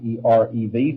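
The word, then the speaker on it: ערב: the English translations, but there is a particular Hebrew word ere. We would spell it out e rev. That's close enough. uh erev which means evening.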